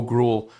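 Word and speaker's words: Groulx: The coach also spoke about the performance of forward Bo Gruel, pronounced Bo Gru, who entered the lineup after being called up earlier in the day.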